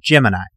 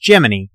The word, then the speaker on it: Gemini: day NASA put out a press release that it was pronounced Gemini and while I recognized that decision in the words of Nick Fury I think it's a stupid decision so I'm gonna pronounce Gemini like most of the rest of the world sorry Al Gemini was